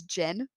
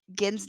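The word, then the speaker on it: Genn: which is great but I pronounced again as Jen through the whole segment that I had cuz I'd never heard his name said I didn't I used to not do sound on my stuff I just had subtitles um so I had never heard Ginn's name actually pronounce so in my head it was Jen Greymane and I were doing the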